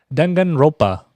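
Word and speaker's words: Danganronpa: I say this right there's an extra n in this that you don't hear um dangan ropa there's a there's I think because it's spelled ronpa but I only hear dangan ropa when I when I listen to the game so I'm going with that uh trigger happy havoc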